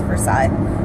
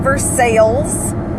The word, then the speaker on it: Versailles: Yes, I know, us in Ohio, we mispronounce Versailles. But I am available in Versailles.